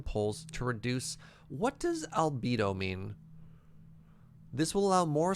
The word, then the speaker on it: Albedo: Albedo is a near sound-alike to libido, if that helps.